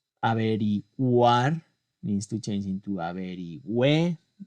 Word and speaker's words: averigüe: Averiguar needs to change into averigüe. Again, there's a rule, G-U-A, actually it's gua, but G-U-E normally is pronounced ge, except for the cases where I include this symbol.